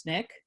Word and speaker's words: SNCC: SNCC but it's often it's pronounced snick just so if you've read it and you hear people saying snick it's the same word so snick is really